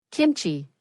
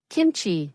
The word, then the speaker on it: Kimchi: Kimchi, he'd said. But you have to pronounce it right. Kimchi, not kimchi like Americans say.